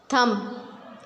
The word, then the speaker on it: thumb: Silent B, lamb, thumb, comb, bomb. We will not pronounce B in all of these words.